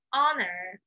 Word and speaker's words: honor: What is Memorial Day?Memorial Day 就是阵亡将士纪念日，纪念在战争中死去的军人。那答案是 A holiday to honor soldiers who died in military service.